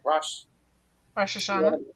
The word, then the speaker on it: Rosh Hashanah: Rosh Hashanah.